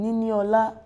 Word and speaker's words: Niniola: No, that's her name, Niniola. Niniola. Did I get it right? I'll give you that. Oh, guys. You said Niniola.